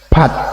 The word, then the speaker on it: part: If so, the R or R no need to be said.